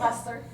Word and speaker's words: Hosler: So this is Hosler. How do you say that? Yes. Hostler.